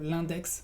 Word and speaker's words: l'index: O también l'index, que es el dedo, l'index. Vas a pronunciar la X.